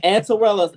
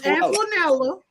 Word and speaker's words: Antoinella: Antorella, if your friend hygiene is horrible, Say my friend name right. Say her name right. It's Antoinella.